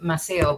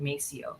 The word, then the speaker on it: Maceo: they didn't name them they named them maseo but in english they pronounced it mesio so that's a that